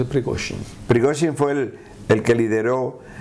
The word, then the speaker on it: Prigozhin: La mayoría de la gente no sabe pronunciarlo, es Prigozhin.